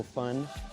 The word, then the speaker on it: pho: we're inside Saigon and I know I said faux at the beginning trying to give you guys